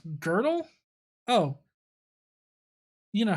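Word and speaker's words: Gödel: as a side note there is an uh umelot two dots over the o in his name and is pronounced girdle oh you know how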